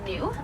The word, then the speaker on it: gnu: And the wildebeest are known by a second name, and that's gnu, but that's spelled G-N-U, and that comes from the grunting sounds that they make.